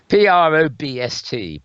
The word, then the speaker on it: Probst: if I ever ever get an invite some pronounceable that surname sounds very good PR Obst Prabha a celebrity in American television with Probst